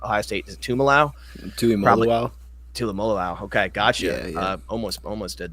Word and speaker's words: Tuimoloau: Drew, JT, I don't even know how to pronounce the last name. The edge from Ohio State, is it Tuimoloau? Tuimoloau.